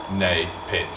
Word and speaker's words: NAPIT: Why is it Napit though? nay pit. It's not nah. There's no Y in it. There's no Y in it. N-A is nay.